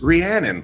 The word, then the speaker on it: Rhiannon: this and she says it's rhiannon like shannon and i have this wonderful amazing artist with me today rhiannon how are you doing